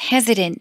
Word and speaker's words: hesitant: 중간에 T가 flap이 되면서 리을 발음이 돼서 hesitant 이렇게 되네요. 네, T 발음이 clear하게 나는 경우도 있어요. Hesitant라고 하는 사람들도 있습니다. Okay. Hesitant도 되고 네. hesitant도 되고요.